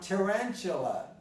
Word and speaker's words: tarantula: Now, tarantula. Tarantula. Tarantula. You have your tarantula. Tarantula. Let's go, the stress is tarantula, tarantula, so this is a schwa, tarantula.